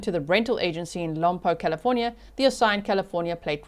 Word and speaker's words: Lompoc: UB Avatar said you are pronouncing Lompoc correctly.